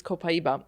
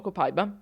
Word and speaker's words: copaiba: not talk about today is copaiba or copaiva. I never know which way to pronounce it. It depends [laughter and clears throat] upon, you know, where you live in the world. Sometimes I'm in trouble for copaiba, sometimes I'm in trouble for copaiva.